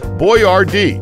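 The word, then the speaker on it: Boyardee: he opened a factory and named his product boy Rd to help Americans pronounce his name correctly 14 Abba stood for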